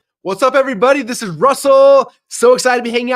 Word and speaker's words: Russell: genius that's his Brilliance Russell rhymes with funnel how to Market how